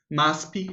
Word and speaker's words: MASP: that is located on Paulista Avenue it's called maspi it's spelled m a asp and if you uh